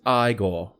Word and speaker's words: Igor: he goes he's like Igor he goes it's pronounced I go he's like what's with